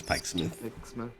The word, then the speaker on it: Pikesmith: Yeah, it's probably pronounced like Pike's Myth. Yes, Pikesmith.